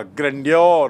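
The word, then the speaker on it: grandeur: तो यहाँ पर ऑथर सेइंग और प्रलय का वह वैभव, वह महत्ता, ग्रैंडियर मतलब वैभव। उच्चारण देखिए, ग्रैंड से बना है ग्रैंडियर, ग्रैंड मतलब विशाल, वैभवशाली, और ग्रैंडियर मतलब वैभव।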